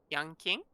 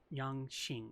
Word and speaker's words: Yanqing: Yang King? Yan Xing. I fucking hate this character so Yang much. Qing. Yang Xing, because the Q in Chinese is pronounced Qi, so Yang Xing. I believe.